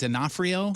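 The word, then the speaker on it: D'Onofrio: all the time uh Vincent denafo is that how you say it right yeah that's his daughter private pile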